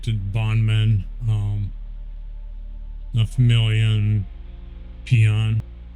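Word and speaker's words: Pyon: The bondmen, the familia, and peon. It's spelled P-Y-O-N, but she pronounces it peon.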